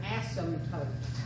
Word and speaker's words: asymptote: There's something called an asymptote. A-S-Y-M-P, the B is silent. Asymptote.